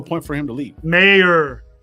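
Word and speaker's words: Mayer: Mayor. Mayor, not Meyer. Mayor, say his name right.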